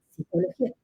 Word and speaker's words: psicología: Recomiendo que en este caso nos quedemos con psicología, con la P, y pronunciemos psicología.